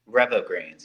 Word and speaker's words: Revo Greens: So first off, let's talk about your Revo Greens. Am I pronouncing that right? Revo Greens? Revo Greens, yes.